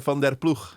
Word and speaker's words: van der Ploeg: Hidde van Ploeg. Van Ploeg, yeah. I'm probably the only interviewer that can pronounce it correctly.